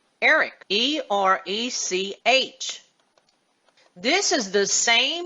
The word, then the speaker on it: Erech: Now, the encyclopedia tells us that Ur is pronounced differently in Hebrew. It's pronounced E-R-E-C-H, Erech.